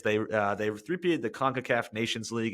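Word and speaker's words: CONCACAF: Men's National Soccer Team they three peated the conaf which I that's how you're supposed to pronounce it conaf yep okay I every time I say it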